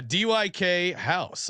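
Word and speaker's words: Dykhouse: It's not the Dyke House. They call it the Dyke House. You go to the Dyke House. Yeah. All right. Yeah. DYK House. I don't know how else you would pronounce it.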